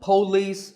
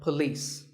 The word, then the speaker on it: police: number six is police this isn't police or poce it's p and leas with the stress on leas so police the next word is